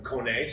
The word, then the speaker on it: Kone: company so an easy way to remember how to say that is a cone like a traffic cone and uh what does a horse say there you go i